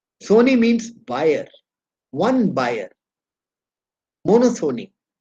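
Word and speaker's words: monopsony: means seller two sellers mono Sony p is silent mono means one Sony means buyer one buyer mono Sony oligo Sony p is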